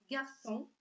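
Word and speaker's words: garçon: Например, слова гарсон, лисон. Обратите внимание, мы знаем, что перед буквой О С должна бы прочитаться как К, но мы видим хвостик или сидиль и знаем, что буква С не меняет свое произношение. Поэтому мы читаем гарсон, лицо.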